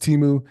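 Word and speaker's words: Temu: all platforms last year but it's let pronounced Teemu they were in six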